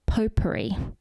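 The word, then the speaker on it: potpourri: It's pronounced poperri. But to give Philip a credit, it is spelled pot puri. The t is just silent. It's a French thing.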